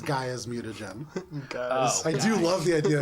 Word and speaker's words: Gaia: I don't know, but I would Jade- say, Bubs, with this short period of time passing, it's Gaia's mutagen.